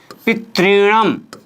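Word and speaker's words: पितृणम्: यहाँ री की डबल मात्रा लगी हुई है दोस्तों, दीर्घ री बोलते हैं इसको। इसके उच्चारण करने में वास्तव में हमारी जीभ में 5 बार कंपन होना चाहिए दोस्तों, पितृणम। तो यहाँ पर 5 बार वाइब्रेशन जब तक नहीं होता है तब तक इसका सही उच्चारण नहीं होता है दोस्तों।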